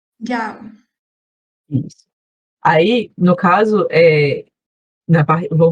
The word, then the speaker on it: 叫: Aí o Jiao você também pronunciou certo, só que o tom é o quarto tom, é o tom rápido. Jiao. Jiao.